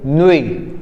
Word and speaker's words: nuit: So we have bonne nuit. Again, because T is a consonant and we are not going to pronounce the consonant, so we are saying Nui, N-U-I, Nui.